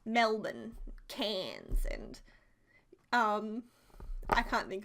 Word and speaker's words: Melbourne: would be okay but we have family in Melbourne Americans say at Melbourne and I think it's so funny but it's